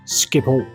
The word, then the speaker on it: Schiphol: airport in the Netherlands in English this is pronounced as skiple as in previous videos I do like to